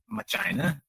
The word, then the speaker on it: Machina: Well, actually, I'm known as Amadeus Ex Machina, but my close friends know that it's actually pronounced Machina.